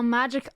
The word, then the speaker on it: MAJKL: Oh, magic. Oh, that's so smart. I was like, I don't know how to pronounce this.